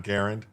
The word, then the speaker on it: Garand: Uh, it's not a It's a Garand, not Garand, though. It's I don't John Garand. It's not John. It's not Garand. It's a Everyone mispronounces it. It's Garand according to the guy.